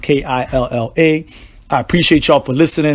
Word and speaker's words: Killa: Killa is pronounced Killa.